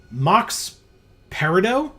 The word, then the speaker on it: Mox Peridot: We start against Mox Peridot. Mm-hmm. Is that how that's pronounced?